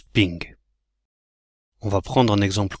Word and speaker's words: PNG: des images PNG mais comme dirait Bernard ça se prononce ping on va prendre un